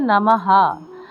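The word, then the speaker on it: নমঃ: ভাঙলে ম যোগ অর্থাৎ ম একটা স্পর্শবর্ণ চলে আসে এ কারণে এর উচ্চারণ হচ্ছে নামাহা যদি এখানে নমি থাকতো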